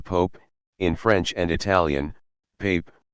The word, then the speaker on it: Pape: In the meantime, however, the two heads of the Christian churches, the Pope, in French and Italian, Pape, pronounced as Pap, of Italy and the